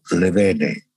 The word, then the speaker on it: Levene: Ricardo Levene, como se pronuncia con V. El apellido debe ser de origen francés, pero es argentino.